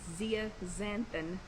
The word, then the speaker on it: zeaxanthin: Of course, winter squashes are a great source of beta-carotene, lutein, and zeaxanthin. I know I butchered that one. It's zeaxanthin. Zeaxanthin. Then a soluble fiber in squash can help lower cholesterol.